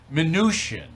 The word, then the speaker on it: Mnuchin: Now, they report that you are going to be hired by the Treasury Department, Mnuchin, right? That's how you say his name, Mnuchin, right?